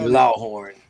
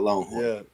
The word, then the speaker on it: Lawhorn: his name is JJ Lawhorn. I can't let you mispronounce his name like that. It's JJ Law Horn, not Longhorn.